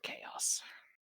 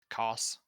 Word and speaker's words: Chaos: All right, chaos in ancient Greek Yeah. refers to the void state preceding the creation of the universe. KHOS. KHAOS, sorry. Cos. No, it's Chaos. I've always pronounced it Cos myself, but yeah.